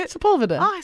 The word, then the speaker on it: Sepulveda: Sepulveda.